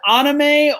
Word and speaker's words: anime: So is it pronounced anime or anime is the correct?